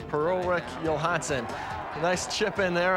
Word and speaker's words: Per-Ulrik Johansson: Per-Ulrik Johansson, that's how you say his name. Per-Ulrik Johansson.